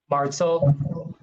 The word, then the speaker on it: Martzahl: Martzel. Would you like me to spell it?